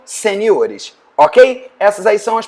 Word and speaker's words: seniores: Algumas palavras acabam tendo modificação na sílaba tônica. É o caso da palavra caráter, que faz plural em caracteres. Também a palavra júnior, né? Ou seja, campeonato júnior, um campeonato de jogadores juniores. Júnior, juniores. Sênior, seniores.